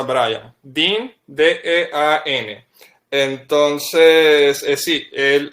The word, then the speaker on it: Brian: Sí, como creas que se escribe, así es, Brian, pero se pronuncia Brian.